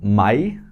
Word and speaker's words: Mai: Next one is same Mai. That is Mai. Mai. Same Hindi we call it Mai as well, not May.